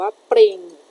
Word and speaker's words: ปลิง: ต่อ ไป นะ คะ คำ นี้ อ่าน ว่า ปลิง ปลิง สะกด ว่า ป อ.